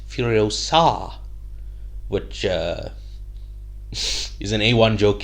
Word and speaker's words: Furiosa: If you had to ask the average man on the street, I think they'd say it's Furiosa, but it's actually pronounced Furiosa, which is an A1 joke if you grew up with the Harry Potter movies.